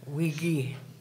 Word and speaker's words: Wigi: I want you to remember that the bay is Wigi. It's a hard G. Wiggy, and I thought it was great.